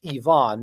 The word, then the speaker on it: Ivan: And what we're seeing for that eighth guy looks like it's pronounced Ivonne, not Ivan, although it's spelled Iban.